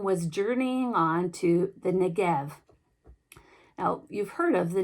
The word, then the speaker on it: Negev: Hebrew letter Beit, which we usually use the letter B to represent, but it's pronounced with a V, so it's Negev Desert.